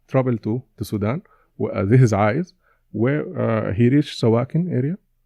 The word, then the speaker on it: A'iz: In Sudan we say Aid, but the actual pronunciation is Aiz. Oh, Aiz.